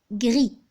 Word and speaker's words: gris: pour commencer à l'or gris je répète grille qu'est-ce que vous remarquez j'ai prononcé toutes les lettres qui constitue le mot gris sauf le s la lettre s je